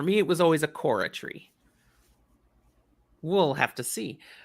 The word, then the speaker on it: Chora: I say Korra. Chora. I always say Korra, like chorus.